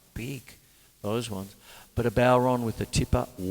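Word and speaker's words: bodhrán: bon time you see when you see it it it's spelled it you feel like you got to say bodran I got told off once early on in the piece Chris it's bon or bon like that but what it is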